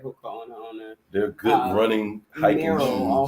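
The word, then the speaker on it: Hoka One One: I can't pronounce this Hawaiian brand. Is a Hoka Ono. Right, Hoka Ono.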